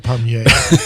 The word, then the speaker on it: Despommier: So Mike writes, Dear Doctors Racaniello, Despommier, and Griffin. Did I pronounce this correctly, guys? All right. Despommier.